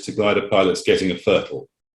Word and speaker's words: FRTOL: glider pilots getting a fertile that's how we pronounce that acronym um and there are